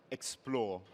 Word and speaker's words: xplr: We're both MBA graduates from Henley Business School, and together we're Team xplr, pronounced Explore.